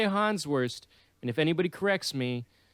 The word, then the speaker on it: Hans Wurst: hans wurst um and perhaps that's pronounced hans verst if you're i don't know how to speak german but this shit's funny so i'm going to say han's worst and if anybody corrects